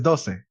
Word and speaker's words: Doce: And I want to say it's pronounced Doce, but I have no clue. How would you pronounce it? It's so funny. It's Doce.